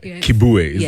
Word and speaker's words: Kibue: That is the one the only the very talented very business savvy as well Kibu. Have I pronounced your name?